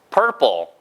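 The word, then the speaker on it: purple: 주면 됩니다 폴 pure 그니까 발음이 퍼플이 아닌 거예요 그래서 foo foo 퍼포 그렇죠 보라색 이란 뜻입니다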